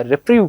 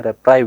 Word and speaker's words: reprieve: अब यहाँ पर हमने लास्ट में एक वर्ड देखा था रेप्राइव करना या रिप्रीव करना, लेकिन इसका जो सही सही प्रोनाउंसिएशन हम लोग देख सकते हैं वो होता है रेप्राइव करना बेटा, ठीक है।